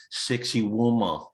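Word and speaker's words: Sacsayhuamán: It's not half as bad as the one in outside of Cusco, which is Sacsayhuaman, which few people can pronounce. So the locals, to make it easy for the gringos, say sexy woman.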